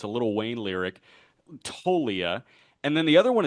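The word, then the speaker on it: Toglia: Michael Tolia. The G is silent like lasagna. It's a little Wayne lyric. Tolia.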